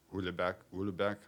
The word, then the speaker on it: Houellebecq: You know, the sensational things like Michel Houellebecq, I don't know how to pronounce it.